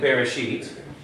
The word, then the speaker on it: Bereshit: Now, at the first letter, on the first letter of a word, like Bereshit, even as a prefix, you have to pronounce the E. It is a sounding shva. So this shva is a short E sound, so it is pronounced be.